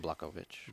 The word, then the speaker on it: Blachowicz: How you pronounce his name? Jan Blachowicz.